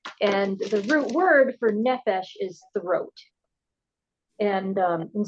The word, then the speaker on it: nephesh: in English smell it n e p h e s h phonetically yeah so the nephesh is it's more than